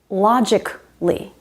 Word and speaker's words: logically: Logically, not logically, just logically, typically, logically, typically, radically. Every time you see A-L-L-Y at the end of a word, the A is silent.